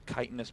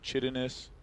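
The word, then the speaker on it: Chitinous: I did indeed open up Wikipedia and figure out how to pronounce that for this match. Kitanis plating, one of the most mispronounced upgrades in the world. Yeah, Chittinus, of course not.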